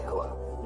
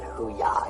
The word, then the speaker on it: hooah: Hooah. Oh, yeah. No, I said simply hooah. That's what I said. No, you said hoo-yah. You said that way earlier, too.